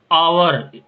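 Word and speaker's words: hour: आवर, आवर, ना कि एच है साइलेंट है, तो यहाँ पे भी एन का प्रयोग होगा।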